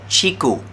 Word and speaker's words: ciku: But what I have is a fruit called ciku. Ciku. That's spelled C-I-K-U.